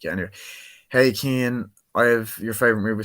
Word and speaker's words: Cian: So we've Hey Keen from Hayden Jones Media. Hey Kane, what? Just saying, it's spelled CIAN. Just saying. So it's Hey Kane.